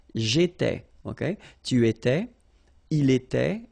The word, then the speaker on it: J'étais: J'étais, okay? Remember here we've got accent aigu, so it goes like et, all right? J'étais.